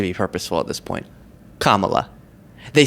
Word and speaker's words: Kamala: Kamala. They say every configuration of syllables and pronunciations except for the correct one.